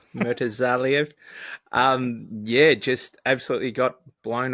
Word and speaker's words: Murtazaliev: You can pronounce his surname for me, Zach. Murtazaliev. Murtazaliev.